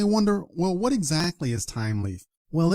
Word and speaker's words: Thymeleaf: it should we say th leaf or time leaf or what is it the correct pronunciation is Tim Leaf so the H is silent this is similar to the words like Thomas Thailand and so on so